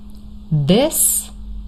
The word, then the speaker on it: this: this short I but these long e.